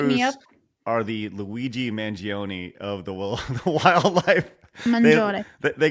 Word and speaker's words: Mangione: She gets on me for saying the name wrong. Yes. Wait, how do you say it? Mangione.